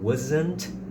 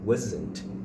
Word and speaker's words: wasn't: Mas na hora de pronunciar, quando você tá falando rápido, esse T ele desaparece. Então eu posso simplesmente falar: "I wasn't home.